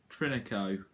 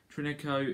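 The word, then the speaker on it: Trincão: about now which is the fact about francisco trinico for that's how you pronounce it trinico is a right-winger he's 21 years old old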